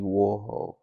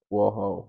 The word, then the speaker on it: Warhol: Andy Warhol. War. Conflict between two countries. It does not rhyme with manhole. Warhol, manhole. That doesn't rhyme. It sounds like it does, the way I say it.